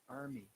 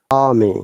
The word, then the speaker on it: army: Remember that because there is a vowel sound before R, we do not pronounce R according to the British IPA, but in American IPA we must pronounce. So it is army in British IPA, but